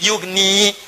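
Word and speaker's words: يغني: Ya-nya dibuang. Padahal asalnya bisa dibaca begini, yugni. Tapi karena ada in, ya-nya dibuang. Jadi yugni, cepat. Ada ya, bacanya panjang, yugni. Tidak ada ya, baca cepat, yugni.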